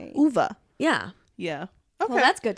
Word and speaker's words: Ove: it's A Man Called Ove, it's because it's pronounced A Man Called Uva.